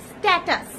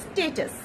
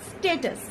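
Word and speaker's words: status: যেটা ভীষণ ইম্পর্টেন্ট, আমরা সবাই ভুল করে থাকি, আমরা বলি স্ট্যাটাস, স্ট্যাটাস, না এটা কিন্তু একদমই ঠিক নয়, আর এটা বলাও উচিত নয়। সঠিকটা হলো স্ট্যাটাস, স্ট্যাটাস।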